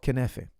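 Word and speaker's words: Kunafa: It's called knefe, okay?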